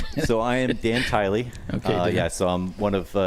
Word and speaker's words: Tyl: And everyone says my name is Tilly. And both are wrong.